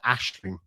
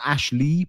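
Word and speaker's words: Aisling: name that I love Another Irish name is Ashling um not ashle but Ashling and Ashling um is the Irish word there's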